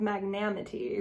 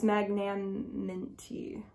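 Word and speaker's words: Magnaminty: a little bit difficult uh for me to pronounce it so I would just say like mask of magnanimity which is not it's magnaniminty magnanimity but um this is cool this is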